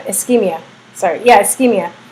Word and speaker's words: ischemia: Too many white blood cells impair blood flow, causing, I can't say, ischemia.